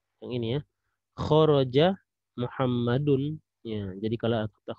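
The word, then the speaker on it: خرج: Jadi setiap kata kita mendapatkan kata kho, ya, kho, ro, ada jim, maka ini kita bacanya khoroja.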